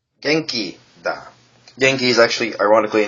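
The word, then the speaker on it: 元気: which is slightly more tricky um is it's pronounced geni geni is actually ironically a name of a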